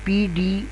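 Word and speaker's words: paid: यह बनेगा date पेड पेड में देखें तो पी डी दो स्ट्रोक और ए का इजाफा तो यह बन जाएगा पेड आई जो है इसमें साइलेंट होगा।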